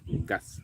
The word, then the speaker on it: Ngas: I think people call it, some people call it Angas, but I think it's Ngas. Ngas, that's the right pronunciation.